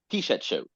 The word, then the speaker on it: Pichetshote: Pornsak Pichetshote. Did I get that right this time? Pichetshote. Pichetshote. That's right. Yes. I always want to pronounce the E.